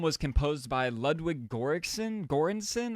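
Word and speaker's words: Göransson: Gorensson I believe is how you say the name.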